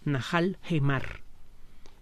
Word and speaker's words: Nahal Hemar: Lo que parecen ser J son H's, Najal Gemar.